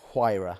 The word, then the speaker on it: Huayra: Hu. And that's spelled Hu.